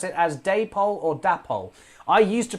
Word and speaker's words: Dapol: The reason being that it was the company name comes from David and Polly, who were the two people who founded the company.